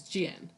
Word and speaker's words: 见: It's not Jen, it's Jian.